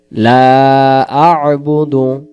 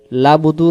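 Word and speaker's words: لا أعبد: ইয়া আইয়ুহাল কাফিরুন তারপরে লা আবুদু লা আবুদু লা আবুদু লা আবুদু লাবুদু লাবুদু যেন না হয় লাবুদু বললে এখানে হামজা বাদ আইন অক্ষর বাদ তখন হবে লাম জবর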